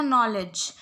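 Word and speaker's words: knowledge: Next last word था नॉलेज. नॉलेज में के साइलेंट होता है, बस इतना ध्यान रखना है.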